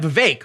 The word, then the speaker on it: Vivek: we do know that Vivek rhymes with cake is one of the